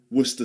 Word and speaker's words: Worcester: There's actually 2 ways of saying it. You can do the full way, Worcestershire sauce, and some people say Worcester sauce. Okay, so you've got 2 pronunciations. You can say, some people say Worcestershire sauce, others say Worcester, Worcester sauce. Worcestershire becomes Worcester. Pass the Worcestershire sauce, would you?